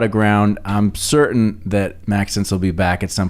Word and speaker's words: Maxence: maxence there you go like Max and Essence together yes sort of interesting